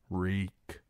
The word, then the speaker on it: Reek: "Reek. My name is Reek. It rhymes with cheek."